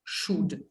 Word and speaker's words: should: at the word should what is the silent letter here l yeah so we do not say el should should yeah shouldn't okay